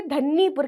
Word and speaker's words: धन्नीपुर: सी confusion होती है, कुछ लोग इसे धन्नीपुर कहते हैं, कुछ इसे धन्नीपुर कहते हैं, जबकि इसका रियल प्रोनाउंसिएशन धन्नीपुर है।